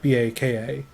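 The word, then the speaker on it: Bocka: Except it's spelled B-O-C-K-A, not B-A-K-A. Nonetheless, it is still pronounced Baka, as far as I can tell.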